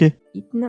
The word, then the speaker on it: Eithne: Donc sa mère biologique, elle s'appelle Eithne, ça s'écrit Eithne. Voilà. Déjà regardez. E-I-T-H-N-E. Ok. Eithne, mais ça se prononce Eithne.